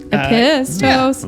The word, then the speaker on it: Apotheos: Apotheos.